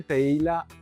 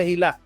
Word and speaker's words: Tehillah: Yo yo conocí de Teila. Teila, ¿cierto? Sí. Tejila. Teila como es tejila. Ese, ¿cómo se dice correctamente? Tejilá. Tejilá.